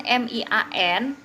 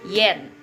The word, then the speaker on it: mian: Nah, jadi pinyin M I A N itu dibacanya bukan mian ya. I A N itu selalu dibacanya yen. Yen gitu ya. Atau Y a n itu a-nya selalu dibaca e ya.